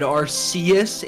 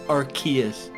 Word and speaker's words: Arceus: So historically, I've always said Arceus, and I am reminded every single time I upload a video that that is apparently the most incorrect way to say it. Even though I think that's how they pronounced it on that show Dr. House. But the correct answer is Arceus.